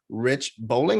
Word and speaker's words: Rich Boling: the moga bar show with me i have rich bowling am i pronouncing that right or that's correct excellent perfect